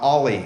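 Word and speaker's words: o11y: open source proprietary type solutions so first uh ollie as it's pronounced the letter o number one number one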